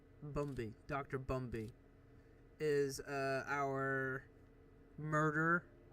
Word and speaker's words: Bumby: So it is confirmed that Dr. Brumby, is that how you pronounce his name? Hold on. Bumby.